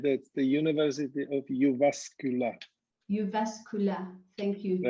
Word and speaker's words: Jyväskylä: And you are at the university in Finland, which name I'm not able to pronounce correctly, forgive me. Right, that's the University of Jyväskylä. Jyväskylä, thank you.